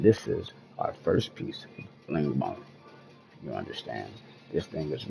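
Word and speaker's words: Lengmo: I believe it's pronounced lingon you understand don't kill me in the comments man you understand I believe it's lingmo all right and this is our first piece lingmo you understand this thing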